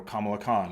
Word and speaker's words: Kamala: see um you know Kamala Khan or like or I guess it's Kamala KH I think her name is actually pronounced different um from from kamla Harris but um yeah I